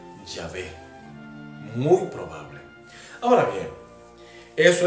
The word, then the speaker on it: Yahvé: Sin embargo, es muy probable que la pronunciación haya sido Yahvé.